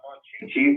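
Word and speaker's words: Monchhichi: Yeah, Mon-Chi-Chi's.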